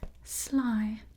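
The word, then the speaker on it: slaai: wine and English so this is pronounced sly like sly in English sly and that means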